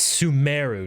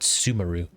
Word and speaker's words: Sumeru: I know they say Kaino, but they also pronounce things weird. Like it's Sumeru, not Sumeru.